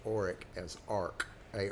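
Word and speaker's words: Orik: But they pronounced the name Arc. They pronounced Oric as Arc, A R K.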